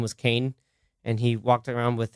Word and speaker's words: Kane: You didn't say his name right. Kane. No, you gotta say it like John Wick. Kane. Every time it was like Kane? John. Kane. It's like a question. Yeah.